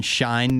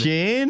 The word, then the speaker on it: Shein: I wanted to talk about, you ever shop on Shine, Nikki? Shein. Shein? Is that how you say it? It's Shein. Shein? I even looked it up. And everybody says it differently.